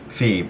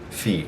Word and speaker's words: في: you should know that if there's an h it means that it's you're saying inside of it right you're not just saying fee like in so sorry if